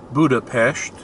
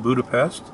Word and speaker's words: Budapest: complimented me saying that i pronounced buddha pesht the way it should be pronounced instead of budapest now there's the skyline